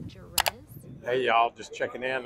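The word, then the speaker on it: Jerez: then from Madrid to I think it's pronounced Jared hey y'all just checking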